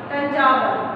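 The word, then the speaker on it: Thanjavur: इसके बाद the Raja Rajeshwaram temple was built in dash, dash की जगह आप आंसर फिल करेंगे तंजावर, क्या करेंगे तंजावर, इसकी स्पेलिंग है TH A N J A V U R, तंजावर, ठीक है।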